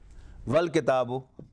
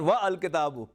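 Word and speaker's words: والكتاب: Now this hamza will not be pronounced. Wal kitabu. It's not wa al kitabu.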